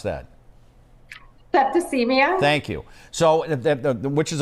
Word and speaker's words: septicemia: How do you pronounce that? Septicemia.